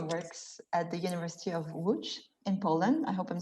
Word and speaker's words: Łódź: Lipian, who currently works at the University of Łódź in Poland.